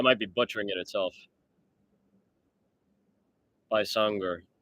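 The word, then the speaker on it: Baysangur: Bysanger. It's funny. I saw it spelled with a Y instead of an I, like Baysanger, but pronounced Bysanger.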